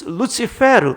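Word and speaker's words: Lucifer: 지금 바벨론 왕을 이야기하면서 그를 가리켜 계명성, 헬렐, 라틴어 발음으로 루시페르, 우리말로 루스벨이라고 부른 것은 실제로 그런 루스벨의 계명성, 헬렐의 그런 상태가 있을 때 은유할 수 있는 거죠.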